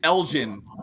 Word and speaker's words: Elgin: Drew T says it's Elgin, pronounced with a soft G as a J.